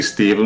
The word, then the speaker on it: Stephen: messes me up too when you see stephen with the ph and it's pronounced v yeah cause that totally